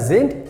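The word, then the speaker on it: sind: like via saint gesund whenever you have d we pronounce like t i have told many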